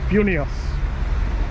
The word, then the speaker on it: Vilnius: Is it Vilnius? Vilnius. How do you pronounce it?